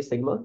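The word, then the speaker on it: Σ: तो आगे जाके ये सम ऑफ डेटा की जगह ना आपका ये ई आ जाया करेगा, जिसको आपकी प्रोनाउंसिएशन होती है सिग्मा, या इसको आप बोल सकते हो समेशन।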